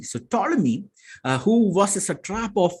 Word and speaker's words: Ptolemy: Now, Ptolemy, you don't pronounce the P, you only pronounce from T. So Ptolemy, who was a satrap